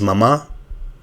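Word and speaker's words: μαμά: So here the word will be mama. But here the word will be mama. Okay, so mama. The correct Greek word is mama.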